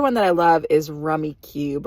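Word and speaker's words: Rummikub: But the other one that I love is rummy cube or as I call it, rummy cub cuz that's kind of how it's spelled.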